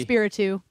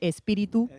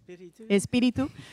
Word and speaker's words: Espiritu: Espiritu, but I like to say Espiritu. Espiritu.